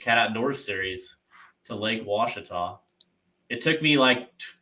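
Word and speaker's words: Ouachita: of the Twisted Cat Outdoors series to Lake Wachita. It took me 6 months to figure out how to pronounce it, but I've got it down now.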